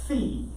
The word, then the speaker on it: phi: the equivalent of our f theta fee it's spelled phi okay it's all right